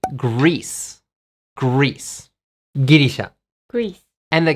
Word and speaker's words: Greece: How do you say Girisha in English? You don't say Girisha, you say Greece.